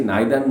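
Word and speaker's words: neither: এইটা আমাদের গ্রামেটিক্যাল একটা ফর্মে আছে, নাইদার নর, আইদার অর, এইগুলো ইদার অর বা নাইদার নর, আইদার অর, এইগুলো কিন্তু সবই সঠিক উচ্চারণ, কোনোটা ভুল নয়, তোমরা ইউজ করতে পারো, বলতে পারো।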